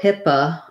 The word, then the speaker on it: HIPAA: about with ship and then that first o says uh hippa then in the stressed syllable very often in english when you have letter o in a stressed syllable it's going to say that ah sound just like we were looking at in the previous word um so hipaa pa then this t becomes a flap sounds like a light